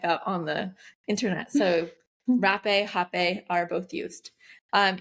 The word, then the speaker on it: rapé: that in there and the last one is rape also pronounced hap um because it's spelled r a p it has an accent over the e but that looks like